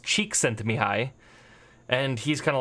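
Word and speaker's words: Csikszentmihalyi: you like that name it's pronounced cheek sent to me hi and he's kind of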